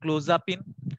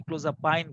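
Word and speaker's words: Clozapine: এখানে কি কি ঔষধ যেমন প্রথম এটিপিক্যাল এন্টি সাইকোটিক হিসেবে ছিল ক্লোজাপিন বা ক্লোজাপাইন বিভিন্নভাবে উচ্চারণ আসলে প্রচলিত আছে। আমরা ইউএসএ যদি করতে চাই ক্লোজাপাইন বলব। সেগুলো বাজারে যেমন সিজওপিন বা সিজোপাইন এই নামে পাওয়া যায়।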